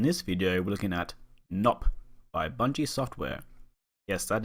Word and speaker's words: Gnop: And another note, I've been told it's pronounced Gnop, but I prefer saying Gnop because it's more fun to say and funnier, kind of like how underpants is more funny than underwear.